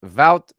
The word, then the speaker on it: Wout: How you pronounce it at the start of the video was correct, Sam. Wout Weghorst.